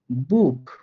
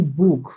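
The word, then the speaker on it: Buch: পান আর কি, তো সিএইচ এর পূর্বে এ ও ইউ যদি পান, তাহলে এই সিএইচ এর উচ্চারণ খ হয়ে যাবে, আর সকল ক্ষেত্রে সিএইচ দেখতে পেলে স এর মতো করে উচ্চারণ করবেন। তো উদাহরণ দিচ্ছি আমি, দেখেন বুক, বুক, এই বুকের লাস্টে দেখেন আমার সিএইচ যুক্ত বর্ণ পাইছি, এবং আমি রুলসে শিখছিলাম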